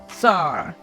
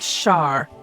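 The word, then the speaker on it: שַׂר: Sar. Not Shar.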